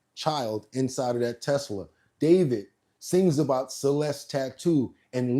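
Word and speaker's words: d4vd: Literally, for the singer known professionally as David, spelled D4 VD. I know it's strange, but it's pronounced D.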